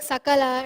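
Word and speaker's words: सकल: pronunciation is so important sakala means the whole world shakala means pieces so when you use this dante or sakara to pronounce this sakala this sakala it means the whole world but when you use this talaviya shakara to pronounce this shakala it means pieces so it's the opposite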